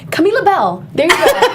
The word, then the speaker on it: Camila Bell: to say my name camila bell there you go camila bell that's how you say my name camila labelle or you